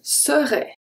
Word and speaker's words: serait: We don't need the T.